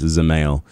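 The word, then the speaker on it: Dzemael: You don't pronounce the D. It's Zemail.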